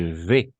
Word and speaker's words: vais: Ce soir, je vais. n'est-ce pas? Je vais. N'oubliez pas la combinaison de voyelles A et I, toujours E. Et le S à la fin, on ne prononce jamais.